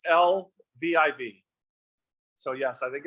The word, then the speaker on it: Lviv: You're saying like one of the main cities, Lviv, is that what used to be called Lvov? I may be saying it wrong. It's Lviv.